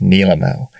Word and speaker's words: Nilemo: medium so hopefully by now you know it's pronounced Nimo or at least that's the way Alyssa pronounces it the fun part of Nimo because it is a name that everyone pronounces